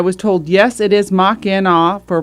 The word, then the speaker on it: Machina: And I was told, yes, it is Mach-in-aw for pronunciation.